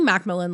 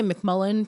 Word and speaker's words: McMillan: especially my last name it's literally McMillan like it's spelled people say McMullen people say um oh